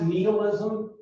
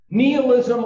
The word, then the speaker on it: nihilism: Now, nihilism, folks, you might hear it pronounced nihilism. Either one is actually correct according to the American Heritage Dictionary. So whichever one you're into is fine. Nihilism or nihilism.